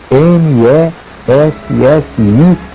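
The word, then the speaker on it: Messiaen: harmonias chamado Olivier Messi escreve Messi m e s s i a e n Messia digamos assim que se pronuncia Messi esse era um compositor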